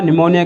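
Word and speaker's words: pneumonia: Pleuro निमोनिया, निमोनिया के अंदर P silent रहता है।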